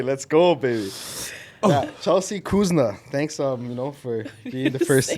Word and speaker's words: Kouzouna: Yeah, Chelsea Kouzouna. Thanks, for being the first guest. Like that. Why, is that wrong? Am I pronouncing it wrong? No, you're actually pronouncing it right.